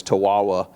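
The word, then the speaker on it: Tahuahua: Katie Tawawa, it's spelled like Chihuahua, but it's Tawawa, is our communications manager at the Life Powered Project.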